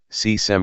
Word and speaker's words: Kösem: kösem sultan turkish pronunciation c-sam sultan c 1589 September